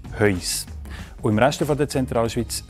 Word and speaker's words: Höis: Typisch für Engelberg ist Heus.